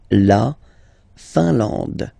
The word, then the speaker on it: Finlande: La Finlande. I-N here, nasal, un. A-N, nasal, en. And then D, final E, not pronounced. La Finlande.